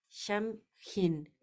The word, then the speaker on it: Samhain: Celta que se es que se pronuncia sham hin como Halloween por eso